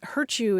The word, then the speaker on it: hurt you: was that hurt you I know it sort of rhymes with virtue but hurt you is is if you